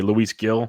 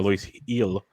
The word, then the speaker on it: Luis Gil: very much in play luis gill or luis eel i should say is the way you pronounce it uh by listening on tv uh he was added in 141 leagues as high as 65.